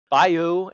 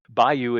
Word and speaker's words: bayou: into Tio's Tiana's B bio ad bio bio wow the Louisiana bio Bou thank you Bayou Adventure saying bio and I'm like there's an o in there how do I pronounce this word by you that's that's normally